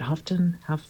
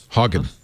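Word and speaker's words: Haugen: So the one thing he mentioned was Frances, how do you say, is it Houghton? Hagen. Hagen. Frances Hagen.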